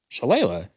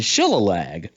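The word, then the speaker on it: shillelagh: you like a magical shalayla except except I kept saying shill a lag because that's how it's spelled so I was like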